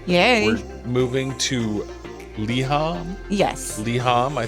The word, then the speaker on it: liham: new EP done yay moving to liham yes liham I said it right this is a lyric